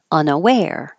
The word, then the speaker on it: unaware: hold the K reluctant unaware the stress is on the end unaware umpire the stress is at